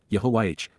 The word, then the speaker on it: Yahowah: Yahowah's, Yahowah, God's one and only name, pronounced, Yehovah, based upon Haya, to exist, seat of honor, Kais,